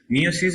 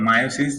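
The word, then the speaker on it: meiosis: মিওসিস বা মায়োসিস, যেটা ইচ্ছে তোমরা বলতে পারো। জাস্ট ইংলিশের যে বানানটা সেটার উপর দিয়ে আসছে।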